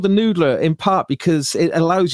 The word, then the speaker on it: NDLR: It's called the Noodler. It's just, that's how it's spelled.